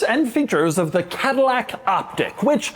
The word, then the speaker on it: Optiq: First off, it's not pronounced Optique, even though I've wanted to do that the whole time I've been around this car.